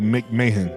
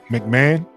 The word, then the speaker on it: McMahon: I always say McMahon because that's how it's spelled. But y'all said it's McMahon.